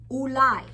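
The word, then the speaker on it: אולי: Ulai. Here's that U with the Vav. Lai. The Yud is silent, and there's that patach.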